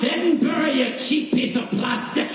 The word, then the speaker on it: Edinburgh: It's pronounced Edinburgh, you cheap piece of plastic. You call it Edinburgh.